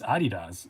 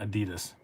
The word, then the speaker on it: Adidas: wait what yeah it's adidas it's a german brand and that's how you say it it's adidas it's not adidas that is just a true fact but i have a